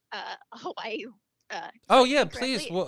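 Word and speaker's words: Hawaiʻi: spanish it's it's the the w is is with more of a v sound so it's who hawaii hawaii hawaii i know i'm not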